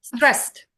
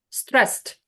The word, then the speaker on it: stressed: one scar scared also one syllable also one syllable stressed stressed also one syllable yeah you found the answers